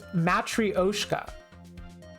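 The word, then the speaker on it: matryoshka: let's look up how to pronounce how to pronounce matoska matrioska this says matrioska matrioska matrioska or can I get some uppies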